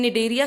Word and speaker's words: Cnidaria: So in Cnidaria, C is silent.